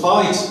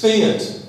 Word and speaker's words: Fiat: I believe I go into a fight the other day. Oh, no. That's not right. It's Fiat.